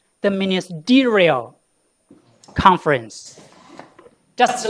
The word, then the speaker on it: ministerial: This is the first syllable from backwards. The second one, the third one. This is ministerial. The third from last will be stressed, okay?